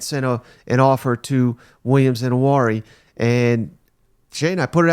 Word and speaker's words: Nwaneri: Defensive lineman Williams Nwaneri, I believe is how you say that name, Shane, just picked